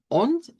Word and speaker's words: und: Und significa y se dice con T, se cambia la D por T.